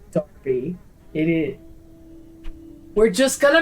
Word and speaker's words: Derby: I hate that that is pronounced Derby.